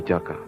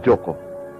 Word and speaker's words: Jaka: Kenapa namaku Jaka, bukan Joko? Seperti umumnya lelaki muda di Jawa Timur. Aku tahu, karena di daerah Pasundan, Joko akan diucapkan Jaka.